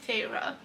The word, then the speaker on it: Feyre: taught me how to say the name correctly feyre and vision riz um but a lot of